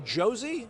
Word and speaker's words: Josey: We are joined by Josey. Is that how you pronounce it?